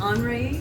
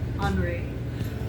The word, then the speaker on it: Henri: a French artist and his name is Andre which is spelled h-e-n-r-i but in Francis Henry is called Andre Matisse oh and he did